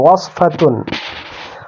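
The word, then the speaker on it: وصفة: Nurse মুমাররাদাতুন, prescription ওয়াসফাতুন, এখানে scene উচ্চারণ হবে না, সাদ উচ্চারণ, ওয়াসফাতুন।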